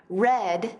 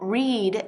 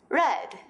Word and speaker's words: read: pero ves la diferencia no hay una diferencia en la ortografía entre el presente y el pasado simple pero sí hay una diferencia en la pronunciación sabrás cuando necesitas usar red del pasado o read del presente del contexto si expresiones